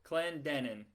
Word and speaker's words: Clendenin: It's the second syllable. Clen Clendenin. Clendenin.